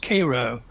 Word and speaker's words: Cairo: not cleveland because uh cairo georgia is pronounced cairo cairo georgia i mean it's just and vienna georgia is by anna uh it's a legacy